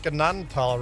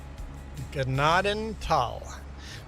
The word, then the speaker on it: Gnadenthal: And anyone listening, I pronounced Gnadenthal right. Gnadenthal. Two separate words. Gnadenthal. That's how it's pronounced.